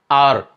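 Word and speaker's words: hour: बट आपको क्या ध्यान रखना है, आर और ऑनेस्ट में, आर और ऑनेस्ट में एच साइलेंट है, तो अब आवाज क्या आई, आर, इसलिए आप यहां पर आर से पहले एन लगाएंगे।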